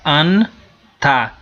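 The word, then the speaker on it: ענתה: Veja que o Nun aqui vai ser ligado a essa sílaba que vem antes, que é o Ain com Kametz, então vai ficar Anta.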